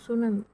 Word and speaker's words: tsunami: সুনামি বানানটা হচ্ছে TSUNAMI, তো সুনামি।